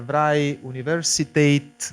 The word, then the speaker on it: Vrije Universiteit: Jamal Shaheen is a professor in two universities, in Amsterdam and the Vrije Universiteit, which is the Flemish pronunciation of university in Brussels, which means free university.